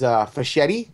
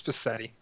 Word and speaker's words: Fassetti: With us first is Fischetti. Is that how you say it? Fischetti? It's Fassetti. Passetti?